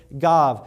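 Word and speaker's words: גב: is spelled it means the same and it's pronounced the same the word is gav spelled giml VAV it means back as in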